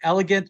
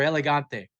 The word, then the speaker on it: Elegante: I'm sorry for cursing, but dude, right off after the first couple of listens, I don't know how you pronounce it, elegant or elegante. Elegante. Well, I mean, it's Spanish, right?